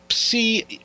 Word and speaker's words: psi: size II real-time and see results psi is sometimes pronounced see the Greek letter or psy which is a shorthand